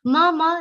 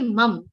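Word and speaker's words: मम: Mama, now here see, don't say mum. Mum is wrong.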